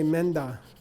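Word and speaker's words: མེ་མདའ: When there's an open vowel in the first syllable of a prenasaled second syllable, the effect is even more pronounced of a nasal between the two.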